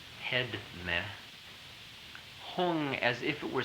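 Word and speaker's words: Hum: it's very extraordinary experience the pronunciation is Tibetan in this case even though the spelling would be spelled as if you were pronouncing it in the Sanskrit so it's om man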